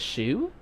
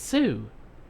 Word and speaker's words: Sue: she know my name your name is Shu fudge asked no it's Sue no way I was going to tell the cop my sister can't pronounce the sh sound finally finally I got